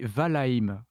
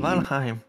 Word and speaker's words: Valheim: Tu as dit Valheim. Moi, je prononce Valheim.